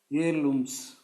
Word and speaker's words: heirlooms: What are the heirlooms? H is silent here, of rich traditions.